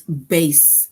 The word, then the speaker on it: bass: says in the sentence base rhymes with case right so now as